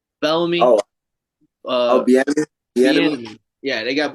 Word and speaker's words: Bieniemy: Bieniemy. Yeah, they got Bieniemy, who, if he is the person that was calling plays, maybe he'll.